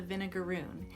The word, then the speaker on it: vinegaroon: We just learned this year about the vinegaroon. It's spelled like vinegar, Vinegaroon.